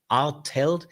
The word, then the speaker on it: Artelt: My name is Artel. A R T L T. Not easy to pronounce as well as.